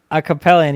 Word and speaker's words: Acapellion: Acapellion, yeah. It's based on it's based on a Pokemon I like called Cobalion.